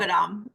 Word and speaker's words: Moghadam: I'm going to butcher the last name, Moghadam. I hope. Mogadam. Yeah, all right, I was sort of close.